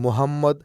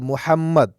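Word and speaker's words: مُحَمَّد: মোহাম্মদ ও ফাতিহা নতুন মাদ্রাসায় এসেছে। এখানে একটু লক্ষ্য করেন মোহাম্মদ এটা আরবি শব্দ। ফাতিহা আরেকটা আরবি শব্দ। এখানে মোহাম্মদ হা মোটাহা না এটা মোহাম্মদ ও ফাতিহা নতুন মাদ্রাসায় এসেছে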